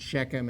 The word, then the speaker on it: Shechem: the city of chem we pronounce it shechem in english and uh and she